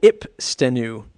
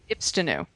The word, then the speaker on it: Ipstenu: Oh, I'd almost want to say it's how to pronounce Ipstenu because everybody seems to get that wrong. So Ipstenu. Ipstenu.